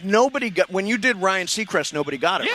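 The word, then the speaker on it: Ryan Seacrest: The last clue should be his name rhymes with cyan request.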